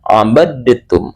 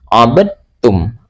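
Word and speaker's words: عبدتم: Jadi membacanya adalah abadtum abadtum. Tapi karena ini adalah idgham mutajanisain yang sudah berlaku, maka cara membacanya dalnya dihilangkan langsung dimasukkan ke dalam huruf ta. Jadi, abadum abadum. Dan untuk contoh selanjutnya adalah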